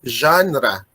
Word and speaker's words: genre: This is pronounced as genre. Parang may letter G tapos Z ang kasunod.